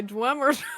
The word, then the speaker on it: Dwemer: That's why you put marbles in your mouth and you pronounce drummer words.